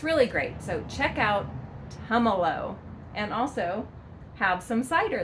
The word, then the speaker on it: Tumalo: Okay, so this is not pronounced Tumalo. No, it's not pronounced Tumalo. Don't think of tamales. No, that's not right. It is pronounced Tumalo. So think about having Tums in Tumalo.